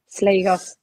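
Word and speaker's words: Slegers: is um Renee Slus is that how you pronounce Slayos. Yeah.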